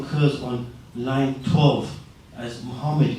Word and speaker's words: Muhammad: and his actual he he actually would have wrote his name different it would have been pronounced as Muhammad or Muhammad or Muhammad but not muhamed so it was actually